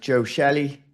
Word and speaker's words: Joe Shelley: Today we're sitting down with Joe Shelly. Did I pronounce that correct, Joe?